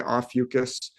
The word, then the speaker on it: Ophiuchus: That's Ophiuchus. Yeah, it's from a Greek word. It can be pronounced a couple different ways. Some people say Ophiuchus, and you're from Bulgaria, which is closer to Greece than I am.